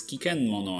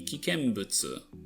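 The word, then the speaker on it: 危険物: Actually it does because well, even though the translation is correct, the pronunciation isn't cuz it says kiken mono and supposed to be kikenbutsu.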